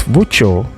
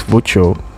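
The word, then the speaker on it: voiture: do you say car in french car it's voucho and ben replied sorry so obviously at this point he couldn't hear clearly so he said can you say that again please luke says yes it's virtual now ben says how do you spell that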